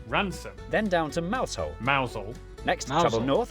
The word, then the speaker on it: Mousehole: over to rampisham Ransom then down to mousehole mausole next to the club North up to Tau